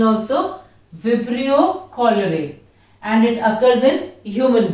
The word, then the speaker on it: Vibrio cholerae: It is caused by a bacteria Vibrio cholerae. Be careful of the pronunciation also. Vibrio cholerae.